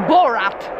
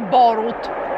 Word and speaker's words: Borut: Cioè che poi va, questo va in America e lo chiamano Borat, perché non sanno pronunciare Borut.